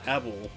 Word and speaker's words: Abel: street fighter four player abel or evil depending on however you want to pronounce it i call him abel early versions of street